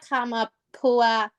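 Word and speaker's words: Kamapuaʻa: Kamapua. We have to pronounce that extra A because Hawaiian knows how to pronounce all of their letters in a word.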